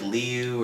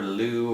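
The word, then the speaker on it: leu: Well, when you pronounce it singularly, it's like Liu or Lu or something pronounced like that. However, when you pronounce it plurally, it's lei, like 15 lei.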